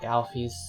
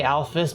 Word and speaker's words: Alphys: no i'm i would i try to say alphys but i've heard so many people say alfie that i instinctually said that instead but i don't like